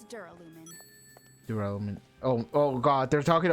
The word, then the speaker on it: Duralumin: Gelalumin? It's Duralumin. Duralumin. Oh god, they're talking about the dumb word that I couldn't pronounce in the first game.